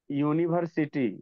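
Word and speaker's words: university: अब यहाँ है यू, यू है हमारा वॉवेल है, लेकिन यहाँ जब हम इसे सर उच्चारण यहाँ करेंगे, दिख रहा है सर, यूनिवर्सिटी, यूनिवर्सिटी, ब्लर दिख रहा है।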